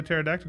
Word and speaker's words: pterodactyl: can't you hear the pterodactyl go to the bathroom the p is silent got em that's a